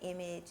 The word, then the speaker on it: Eimaj: I pronounce it image and it's just because